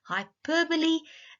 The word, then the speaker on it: hyperbole: It is pronounced hyperbole, and allegory.